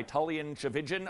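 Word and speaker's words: Tchividjian: that little presentation by tan chin rhymes with religion the pastor of Coral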